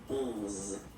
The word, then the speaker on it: onze: Okay, so O plus N give you the sound onze. Okay, final E doesn't exist phonetically. Onze.